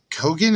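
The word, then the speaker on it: Keoghan: but uh i i did like barry uh kogan is how you say his last name is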